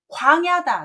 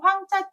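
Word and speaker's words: 廣: 광야다, 넓은 들판이다 이렇게 쓸 수 있는 넓을 광자인데요. 여러분이 이걸 보실 때 누루 황자 때문에 황 발음을 많이 하시는데 조심하셔야 됩니다. 광 발음이에요.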